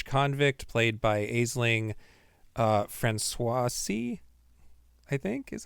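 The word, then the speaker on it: Franciosi: This follows a young Irish convict played by Aling uh, Francoisi, I think is how you say her name. Franuisi. Please welcome Ashlin Franchosi.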